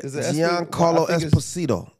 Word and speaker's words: Giancarlo Esposito: Giancarlo Esposito.